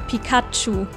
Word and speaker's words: Pikachu: definitely sounds better and yes this is how we pronounce it in german pikachu gesundheit comes from thunder